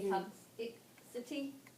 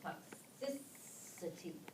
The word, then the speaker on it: toxicity: we know this is do we say toxity no we know it's with this it's going to shift now we're going to have our Accent on the second Sy and it's still so it be toxicity and this is going